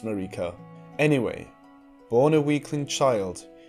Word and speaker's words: Marika: Yes, not Marika.It is pronounced Marika.